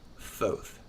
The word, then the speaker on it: Thoth: It's correctly pronounced Thoth.